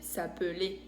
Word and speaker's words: s'appeler: Por eso, el verbo s'appeler, que se escribe con una L, se dice s'appeler.